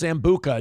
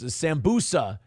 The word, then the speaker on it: sambusa: Hobo Chili says it's pronounced sambuka. No, you're thinking of the booze. You're thinking of alcohol. No, it's sambusa is um it's some kind of uh snack.